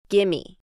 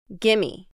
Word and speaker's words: gimme: Once again, we are using the reduced form of give me, gimme, gimme.